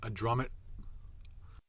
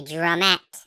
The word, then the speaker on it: drumette: So he can't claim that it was a mispronunciation because he calls it a drummet every time, not a drumette.